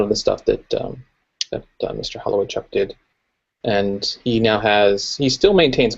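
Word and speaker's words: Holowaychuk: Does anybody know how to pronounce his last name? Holloway Chuck. Holloway Chuck, that's it.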